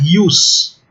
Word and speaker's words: ius: Mais uma penúltima linha, vejam, não existe no clássico a letra J, né? Então, por exemplo, a palavra ius, no dicionário o aluno pode encontrar com J, jus, né?